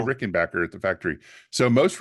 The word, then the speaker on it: Rickenbacker: and backers I know that's not how you say it that's how I say it how do you say most Rick they say Rickenbacker because they don't want it to sound too German wait so I was